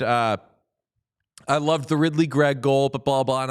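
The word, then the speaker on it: Ridly Greig: I know it to be Ridly Grieg because I'm an effusive pronunciation guide checker. And both the NHL pronunciation guide, which is always bang on, and Hockey Reference, which I think uses the pronunciation guide, has Ridly Grieg.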